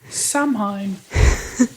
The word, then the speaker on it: Samhain: Called Samhain, I did not know that. which is but I probably do not now.